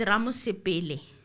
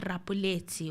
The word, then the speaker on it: Ramosepele: It's Ramosepele. It's not Rapuleti or anything else.